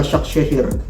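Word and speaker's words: Başakşehir: Istanbul basak sehir jadi Bacanya adalah basak sehir ini ini adalah plastiknya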